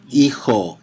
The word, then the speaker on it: hijo: J in Spanish always sounds like a H in English. H in Spanish is silent. So the son, if we look at the two vowels, are going to be E and O, and we know that H is silent and H and J is going to be like an H.